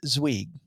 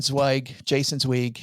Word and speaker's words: Zweig: coming up on Wednesday, OG, get this, Jason Zweig. Is it Zweig or Zweig? Yes. Yes. Jason, every time I pronounce his name, by the way, I get